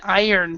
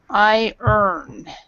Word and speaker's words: iron: Okay, and this pronunciation for this is actually an I-earn. So it's more like, I like to say it this way. I earn money ironing clothes.